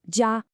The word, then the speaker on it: 家: Take the character for family or home, pronounced jia.